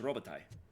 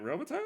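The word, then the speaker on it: Robitaille: is uh Bast ization of the original French robai uh but after 200 years in America and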